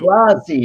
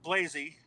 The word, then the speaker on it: Blasi: Blasi, okay. No, It's all right. No, it's funny. The correct pronunciation is Blasi. In Greeley, they call it Blazy.